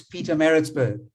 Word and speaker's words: Pietermaritzburg: And Sashin, you spoke about Pietermaritzburg last week, and you battled to pronounce it. Well, I'm now correcting you and saying it's Pietermaritzburg.